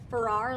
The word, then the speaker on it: Ferrar: He says that he tells people it's Ferrar like Ferrari.